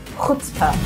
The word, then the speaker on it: chutzpah: Ch isn't actually pronounced. Chutzpah.